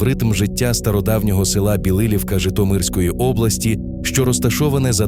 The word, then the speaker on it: Білилівка: І одразу, щоб ми правильно все вимовляли, наголос на другий склад. Білилівка. І річка там Роставиця.